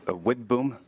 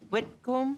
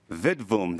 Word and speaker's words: Widboom: Madam Chairman, Widboom. Whitcomb? Widboom. Vidboom, they said in Sweden.